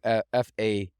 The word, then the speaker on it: Faeth: Guys, Faith, not spelled like Faith, Faith. It's Faeth.